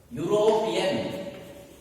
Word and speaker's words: European: Some words are going to begin with vowels, but they are not going to be pronounced as vowels. They will be pronounced as consonants. Take for example, university. University. European. European. And union.